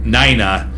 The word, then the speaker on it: Nina: Niners no it says it's spelled Nina but then says pronounced Naina n-i-g-h-n-a according to the breweries